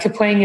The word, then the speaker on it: Kapwing: Kapwing and Kapwing are both fine. But Kapwing is sort of like an onomatopoeia, like Kapwing, something bouncing off of something else.